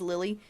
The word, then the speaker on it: Lily: it says lilith but he says lily because it's french lily you don't pronounce the last consonants unless there's a vowel after it everyone take another shot